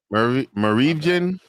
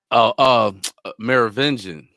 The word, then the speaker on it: Merovingian: Marivjan from the Matrix, and P.